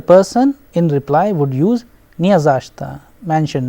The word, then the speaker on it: не за что: Here, if you pay attention to the не за что, they are separate, but when they are pronounced, it is always pronounced as не за что.